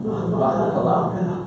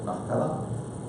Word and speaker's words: Machpelah: That's how you would pronounce it in Hebrew, isn't it? Machpelah. Yeah, Machpelah.